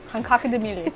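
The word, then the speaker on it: kak in die mielies: How do you say it again? Kak. Kak. In. De. Milis. De milis. Okay. Let's hear it. That's right. Kankakademilis. There it is.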